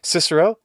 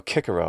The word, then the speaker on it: Cicero: standard pronunciation in english cicero same deal well we don't have the initial ga un aspirated it's always ka so kikiro or something like that is what would come out with using normal native english